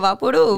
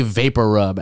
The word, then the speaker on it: VapoRub: we've been, whether you say Vaporub or Vapor, well, if you say Vapor Rub, actually, there's not an extra R.